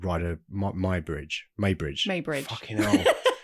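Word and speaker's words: Muybridge: It's with a U, so I don't know how to pronounce. They said Maybridge in the film.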